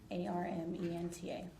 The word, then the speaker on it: Armenta: V A N E S A R M E N T A I'm pronouncing that correctly.